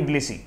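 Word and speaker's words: Tbilisi: रूस का राजधानी मॉस्को और जॉर्जिया की राजधानी ब्लिसी, यहाँ पर टी साइलेंट कर दीजिएगा, इसकी राजधानी ब्लिसी है।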